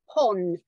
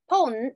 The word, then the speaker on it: pawn: not it's called a pawn pawn like the chess you know um ponds it's called a pawn shop mindful of the pronunciation piece so this is the long sound okay it's Pawn it's